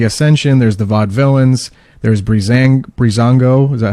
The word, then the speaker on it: Breezango: There's a lot more tag, there's the Ascension, there's the Vaudevillains, there's Breezango, is that how you pronounce that? Yeah, Breezango.